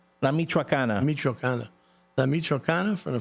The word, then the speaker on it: La Michoacana: La Michoacana? La Michoacana.